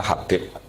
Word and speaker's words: Habib: Itu di harokatnya kitab itu ada yang nulis Hubab, tapi yang benar yang benar itu bacanya Habib.